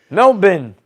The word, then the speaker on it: Melbourne: Melbourne. Melbourne is how you say it in Australian.